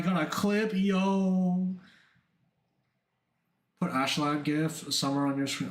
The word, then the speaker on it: Askeladd: Also, actually, it's pronounced like Ashlad, right?